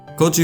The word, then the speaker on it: Közi: You know, like how MLY crew and Motorhead used in their names, but didn't pronounce them the German way. Koji was born on May 29th, 1972.